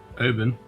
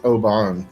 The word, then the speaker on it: Oban: in here obon 14 Oben is that how you say it Oben yeah I believe it's Oban Ken Oh Aaron 24